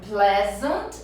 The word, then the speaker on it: pleasant: E é muito comum esse erro, como a palavra vem de please, a pessoa falar pleasant. Gente, mas é comum demais. Mas é. Então, a pronúncia correta é pleasant, que quer dizer agradável, né?